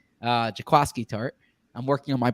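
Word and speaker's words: Jaquiski Tartt: or you're perhaps perhaps jaquisky tart you're looking at this and saying uh i should say jakowski tart not jaquisky uh jakowski tart i'm working on my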